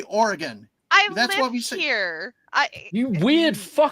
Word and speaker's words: Oregon: State Beavers but no Oregon Oregon okay Oregon that's fine it just less emphasis on the E it's Oregon how how